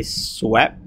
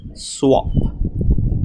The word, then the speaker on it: swap: say this word incorrectly they say swep but actually it is swap swap okay Swap and